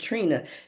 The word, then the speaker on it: Trini: You know, my name is spelled T R I N I, but my parents pronounced it Trina.